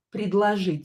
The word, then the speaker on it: предложить: And when O is not stressed, we pronounce it as A, right?